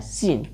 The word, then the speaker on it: scene: SCENE, तो इस सी को साइलेंट रखना है, SENE पढ़ के इसको बनाना है सीन।